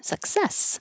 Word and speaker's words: success: um a lot of people put stress on the first syllable success. But it's one two success like balloon.